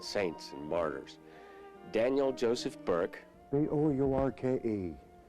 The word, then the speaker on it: Bourke: Daniel Joseph Burke. B-O-U-R-K-E, not B-U-R-K-E. It's the same name, but I spell it that way my father did before me.